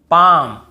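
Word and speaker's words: palm: डी एफ के एम डी एफ के एम इसके पहले एल हो तो हमें नहीं पढ़ना है जैसे काम बाम पाम और यहां पे आमंड बहुत से लोग आलमंड ऐसे बोल देते हैं बहुत काल्म बालम पाल्म नहीं होगा काम बाम पाम और आमंड ऐसे आलमंड आलमंड नहीं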